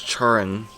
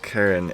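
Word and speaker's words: Charon: named karen c-h-a-r-o-n because i don't think it's charrin or anything like that it's pronounced karen and then she says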